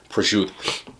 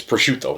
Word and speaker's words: prosciutto: It's where you get those mismatched words where I mispronounce according to everybody else, like mozzarella, gabagool, prosciutto. No, it's prosciutto.